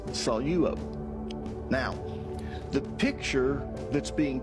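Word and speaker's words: σαλεύω: So many people will pronounce this saluo. But because there's a dip thong there with epsilon epsilon, you take the lambda and you put it with the first syllable. Okay? So it's salo.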